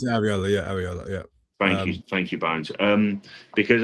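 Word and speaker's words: Iraola: And I think that's where you're looking at sort of this Ariola, if I'm pronouncing it is that is right, isn't it? It's Ariola, yeah.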